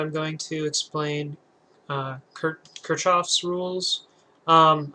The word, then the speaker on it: Kirchhoff: going to explain uh K kof's rules um I've also heard it pronounced Kirk off's rules um in any case